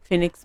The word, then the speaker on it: Phoenix: खैर हम लोग पहुंच चुके हैं फिनिक्स मॉल। तो इसको आप किसी भी तरीके से प्रोनाउंस कर सकते हैं, फिनिक्स मॉल, फोनिक्स मॉल, जिसको जो प्रोनाउंस करना है करते हैं।